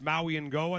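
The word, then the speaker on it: Mauigoa: Francis Maui and Goa, that's how you say his name, Dick, out of Miami.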